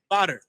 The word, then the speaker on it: Bader: Bader. That's how you say it. Badar. Boy, I was mispronouncing that last night.